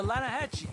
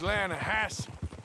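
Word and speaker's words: Lannahechee: some beautiful steelhead trout you mean the atlanta hatchet river no no no no no the the lana hatchy it runs right near here yeah but it's pronounced lana hass why is everything in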